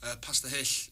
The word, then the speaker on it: Pasta Hull: Pasta Hish. It's spelled pasta, and then it's basically like Pasta Hull, but you don't seem like that.